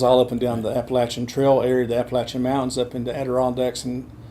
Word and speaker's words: Appalachian: Or around the country, they say Appalachian. It's not Appalachian, it's Appalachian.